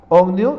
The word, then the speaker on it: ohmio: Procedemos de un foco cuya resistencia eléctrica es 40 ohmio, esto se pronuncia ohmio, y es la unidad de la resistencia de R, miren, 40.